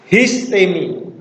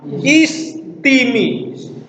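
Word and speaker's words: ἵστημι: sesuai zaman penulisan teks histemi tapi untuk modern ya tidak diucapkan hisemi tapi istimi itu adalah cara baca modern jadi tidak ada yang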